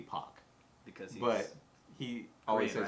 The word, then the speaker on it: Paak: So he says in a radio interview, it's technically Pac. Because but he always Korean, says right? Pac.